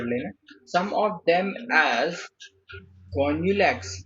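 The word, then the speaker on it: Gonyaulax: Some of them as गोन्यूलैक्स, इसको गोन्यूलैक्स ही पढ़ता हूँ, आप लोग कुछ और पढ़ सकते हो पढ़ लेना, मैं तो गोन्यूलैक्स पढ़ लेता हूँ, गोन्यूलैक्स पढ़ लेता हूँ, स्पेलिंग याद रखना वो इम्पोर्टेंट है।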